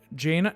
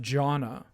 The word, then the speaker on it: Janna: any kind of sweeper jaina no it's pronounced janna uh and uh she